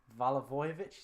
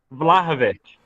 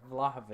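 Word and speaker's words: Vlahović: say is name was valovic is that his name where are all those syllables on this I am awful pronunciations vlahovich vavich there we go vlahovich you know who he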